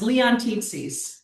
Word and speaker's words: Leontitsis: It's Leon Tits.